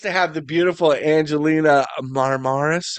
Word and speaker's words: Marmaras: I'm blessed to have the beautiful Angelina Marmaras. How do you say your last name? You're right, Mars. Marmaras.